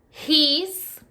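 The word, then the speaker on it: gis: His, G-I-S, his.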